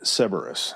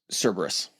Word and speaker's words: Cerberus: That security measure is named Cerberus, or Cerberus. Cerberus. Cerberus or Cerberus? Cerberus. There's multiple pronunciations of it. I think Cerberus is the one that's been...